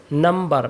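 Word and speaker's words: number: देखिए बी जब भी एम के बाद में बी आता है ज्यादातर बी साइलेंट हो जाता है लेकिन नंबर में साइलेंट नहीं होता है।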